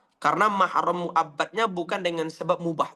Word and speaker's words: mahram: Maka pengucapan selama ini di Indonesia itu kurang tepat. Ya, belum muhrim, belum mahram, belum mahram. Itu tidak betul.